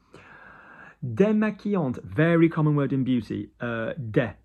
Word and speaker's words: démaquillante: Démaquillante, very common word in beauty.